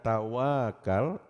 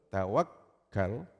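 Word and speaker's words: tawakkal: Kalau W-nya dibaca panjang tawakal, itu salah artinya. Artinya tawakalnya main-main. Tapi kalau dibacanya K-nya atau kaf-nya double, tawakal, itu tawakal yang benar.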